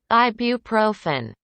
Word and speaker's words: ibuprofen: for for hitting guatemala let's uh hear this pronunciation so you can get this pronunciation in english ibuprofen ibu ibuprofen ibuprofen ibuprofen ibuprofen ibuprofen that's the that's the pronunciation for this ibuprofen ibuprofen and that's